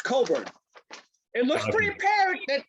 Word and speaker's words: Cockburn: Kofi COCKburn. You would think, right? Apparently it's COCKburn.